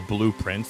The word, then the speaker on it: Blue Prince: So blue prince like p r i n c e. Not it's kind of like a play on words if that makes sense. So you spell it like this. So it sounds like blueprints but it's also it's